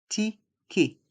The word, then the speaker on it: ticket: Dans le mot ticket, les lettres E et T se prononcent et, ticket.